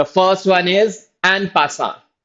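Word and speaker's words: en passant: The first one इज एन पासा. पी is silent.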